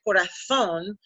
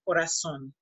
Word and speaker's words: corazón: Remember, we pronounce for letter Z, if you hear somebody from Spain, you're gonna hear corazón, but somebody from the rest of the Spanish-speaking countries, they are gonna use pronounce an S, corazón, okay?